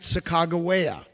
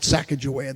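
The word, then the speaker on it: Sacagawea: that's where they met sagaa sometimes they call it sakaja that's not how you pronounce it she had been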